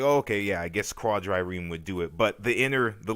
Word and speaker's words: quadrireme: And I insisted, not really insist, I originally said that to pronounce the word, traditionally you'd pronounce it with the attenuated French DR rolled sound, quadrireme.